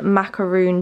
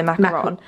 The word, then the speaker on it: macaron: So Mum got this new candle from Yankee Candle the other day, and it's called Macaroon Treat. I say macaroon, but some people say macaron.